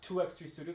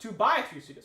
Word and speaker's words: 2x3 Studios: all right all right it's not pronounced 2x3 Studios it's pronounced two by three Studios okay here we go